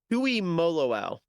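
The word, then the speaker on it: Tuimoloau: How do you pronounce JT's name? Tui Moloau.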